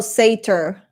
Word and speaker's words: satyr: It's pronounced like satira without the end. Okay, so satir. Oh, satyr. You know what?